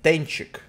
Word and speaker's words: Den4IQ: It's actually funny, the Den4IQ is the Ukrainian player, and it means Denchik. So his name... Really? Yes, his name means Denchik.